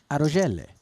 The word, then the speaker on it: Arogelle: P, how do we pronounce that first name? And he said, Arogelle.